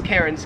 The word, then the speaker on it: Cairns: it wouldn't matter because the australian accent just leaves the r off if it's ever in the last syllable of a word so you would pronounce melbourne melbourne and you would pronounce karen's cans let me know in